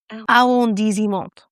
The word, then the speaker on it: arrondissement: And the correct pronunciation of the word is arrondissement.